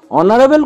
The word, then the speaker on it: honorable: Honorable কথাটি H দিয়ে শুরু হলেও honorable উচ্চারণ যেটি ভাওয়েলের উচ্চারণ দিয়ে শুরু হয় তাই honorable এর আগে হয় an.